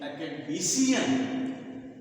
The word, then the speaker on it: academician: So on the first, it is stress on the second syllable, and here this is stress on the third syllable, and it is on fourth syllable. So academy, academic, academician.